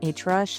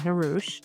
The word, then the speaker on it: Hrush: for the longest time, people didn't know how to say my name and they would call me H Rush and I would just go along with it. Maybe that's like my stage name, not Harouch.